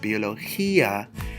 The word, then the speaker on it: biología: to create a silhouette gonna add an accent mark to add emphasis and stress on the eye otherwise it would be like saying foie de Mesilla da de Mesilla but I want to say biología so I'm adding the accent mark biología and adding emphasis